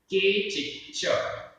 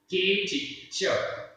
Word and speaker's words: केचिच्च: उच्चारण के चिच्च, के चिच्च, आधा च पूरा च, के चिच्च, अणावर्णा, अणावर्णा, आधा पूर्णा, मिच्छादंसन, कसाय, जोग, जुदा, विजुदा, य, तेहिम, तेहिम, बहुगा, सिद्धा, संसारिणो, जीवा।